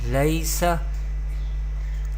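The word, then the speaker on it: لَيْسَ: The next word is lam ya zabar lay, sin zabar sa, laysa.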